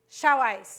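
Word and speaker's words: Xiaoice: the room yes yes xiaois is how it's pronounced if you don't know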